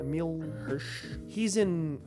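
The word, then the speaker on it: Emile Hirsch: Emil Hirsch.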